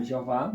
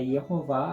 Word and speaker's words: Yehová: Ou Jeová, mas é Yehová a pronúncia, certo?